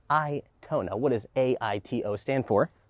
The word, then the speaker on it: Aito: see the name here you might think it's pronounced i to i certainly did but it is i tona what does a-i-t-o stand